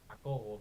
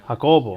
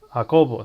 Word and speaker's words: Jacobo: It's Jacobo, but you Hakobo. know what? Hakobo. So there's Yeah, an emphasis on the second part. yes, yes. Hakobo.